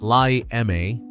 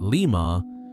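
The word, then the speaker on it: Lima: At leot pronounced li ma, not lemur, woodard championed what he called superpower.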